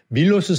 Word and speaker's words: 밀로스: 근데 그리스 원래 이름은 밀로스인데 프랑스어에서는 S 발음을 안 하기 때문에 그래서 밀로의 비너스라고 우리가 그랬는 거예요.